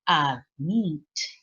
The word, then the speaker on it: admit: Lección número 6 dice que el verbo tiene dos sílabas nuevamente, pero ahora la sílaba que está acentuada es la última. Por ejemplo, admit, prefer, and begin.